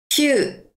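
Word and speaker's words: きゅう: 한글 구하고 조금 비슷한데에 우라고 늘어지는 발음이 납니다. 해 볼게요. 큐.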